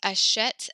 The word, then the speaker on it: achète: So actually it goes achète, achète, achète. And then the last one is achète. They actually all sound the same.